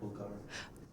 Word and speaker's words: Bulgari: It's just Bulgari. Shall I try that again? Live Nation, the BBC, Bulgari. I don't know how to say that. Bulgari.